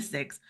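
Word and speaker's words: SIIX: So, it's called the six, but it's the Speaking Industry Expo. It's spelled with an X, so it's S IIX.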